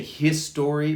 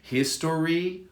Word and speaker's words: history: chemistry history history interestingly you can say his story like three syllables or two history or history and i